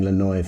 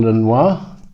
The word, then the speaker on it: Lanois: this and produced by Daniel Lanois I'm gonna pronounce his name right I've been saying llinois for the last few videos sorry about that